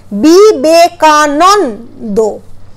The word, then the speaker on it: বিবেকানন্দ: কারণ উচ্চারণটা ন ন হচ্ছে না, উচ্চারণটা হচ্ছে নন, বি বে কা নন দো।